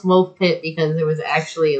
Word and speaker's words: Woolpit: But it's pronounced Woolpit because it was actually like a little pit that they had dug to help them catch wolves for the village nearby.